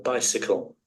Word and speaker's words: bicycle: பைசைக்கிள். பைசைக்கிள்ல அது என்ன பண்ணணும்னா பைசிக்கிளா மாத்திடணும். Bicycle. இந்த அருவாளை மாத்திடணும். Bicycle. ஓ Bicycle. பைசைக்கிள். Bicycle. பைசைக்கிள். பைசைக்கிள். Bicycle. நம்ம பைசைக்கிள்னா சொல்லக்கூடாது, சுருக்கிடணும். பைசிக்கிள். ரைட்.